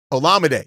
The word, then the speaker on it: Olumide: and Olumide Zaccheaus uh Olumide Olumide oh Olumide is how you say it Zaccheaus uh DJ Moore with 11 and they're both gone.